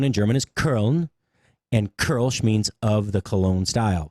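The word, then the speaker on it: Kölsch: pronounced the same and they're pronounced like ER so kelsh or kol however we say in english is actually k ER l SCH curl Sh it's not hard curl Sh simple that's how you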